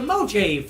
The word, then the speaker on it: Mojave: very proud of you if you pronounce it wrong it's the mojave desert let's move on to